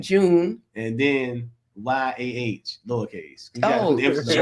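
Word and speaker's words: JoOn: So, you know, these No, y'all gotta say it right. You spell it J-O, capital J, capital O-O, capital N. June.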